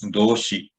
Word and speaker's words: 動詞: So, verb, let us see the pronunciation. Verb is doushi.